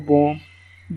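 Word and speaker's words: bomb: यहाँ पर उन्होंने दिखाए हुए हैं, देखे यहाँ पर इसको बॉम्ब बी नहीं पढ़ेंगे, पहले वाली बी आएगी दूसरे वाली नहीं आएगी।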